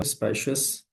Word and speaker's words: specious: ठीक है, तो सबसे पहले मैं आपको वो वर्ड्स दिखा, स्पेशियस और स्पीशियस। पहला वर्ड है स्पेशियस, दूसरा वर्ड है स्पीशियस। आपने इनकी प्रोनाउंसिएशन में डिफरेंस भी नोट कर लेना है, स्पेशियस, स्पेशियस, स्पीशियस। और ये दोनों ही एडजेक्टिव्स है।